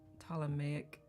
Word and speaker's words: Ptolemaic: I think the P might be silent. I think it's Ptolemaic. Astronomy.